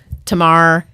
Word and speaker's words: Tamar: We were just discussing Tamar. Her name gets slaughtered. It rhymes with Kmart. Kmart. Tamart.